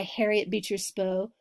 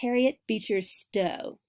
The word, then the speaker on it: Harriet Beecher Stowe: anti-slavery novel written by Harriet Beecher Stowe spoke out powerfully against slavery I think I mispronounced her name its Harriet Beecher Stowe now Stowe was the